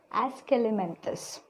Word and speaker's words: Aschelminthes: Okay, how to pronounce? Aschelminthes.